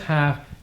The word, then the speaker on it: half: you're talking about football you say the first half and the second half all right and you don't pronounce the L okay very good Hotel